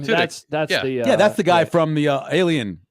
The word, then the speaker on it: Tudyk: It's Alan Tudyk. Is that how you pronounce his name? Tudyk.